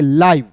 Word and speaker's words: LIVE: एल का ल, और IVE का उच्चारण दोस्तों आइव के रूप में करेंगे, लाइव। LIVE लाइव पढ़ेंगे, इसे लिव नहीं पढ़िएगा, लाइव पढ़ेंगे।